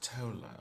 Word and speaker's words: Thola: Coriol and Thola, can you also roll me a perception check for me, please? I'll have you know, my name is pronounced Tola.